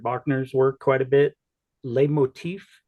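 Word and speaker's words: leitmotif: work quite a bit L Motif is that the correct pronunciation like recurring themes and yes okay is that essentially what you're see yeah exactly um there also uh light Motif is is also legitimate and probably a little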